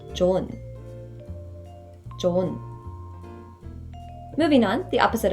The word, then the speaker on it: 좋은: But the pronunciation is not 좋은, but rather just 좋은.